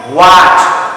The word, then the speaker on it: what: Look, WHAT উচ্চারণটা কেমন? হোয়াট, হট নয়। আমরা অনেক সময় ঝুঁকে দ্রুত বলতে গিয়ে আমরা বড়রাও অনেক সময় হট বলে ফেলি।